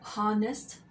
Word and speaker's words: honest: If you are using a word with a silent sh, such as honorable or honest, then you have to use an.